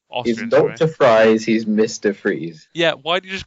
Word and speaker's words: Fries: Hector fries he's Mr Freeze yeah why did you just call him something why fries though I don't think you pronounce it fries though I think you pronounce it freeze because he's because of